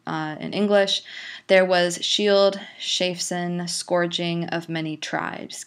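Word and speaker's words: Scyld: Shield shaping shapen partium so notice here that we have this c c uh sorry SC sound which actually is pronounced with a a sh sound in our present day English um and you have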